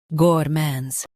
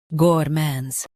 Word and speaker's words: gourmands: gourmands Now read the syllables shown on the screen naturally. gour mands gourmands Stress mon and keep gour smooth.